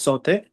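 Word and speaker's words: sauté: Okay, yeah, it's saute. Saute means cook food quickly in a little oil on a high heat.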